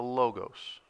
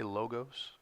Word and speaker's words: logos: I'm going to say logos and for all of you awe people I apologize in Greek the letter is Omicron and so there is another o the Omega which gives a long o but I grew up